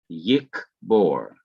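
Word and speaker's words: יקבור: middle of the word this is the first syllable yik this is the second syllable bohr and so at the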